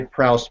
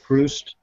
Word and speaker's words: Proust: I want to say Proust, but I believe his name is pronounced Proust, a famous author.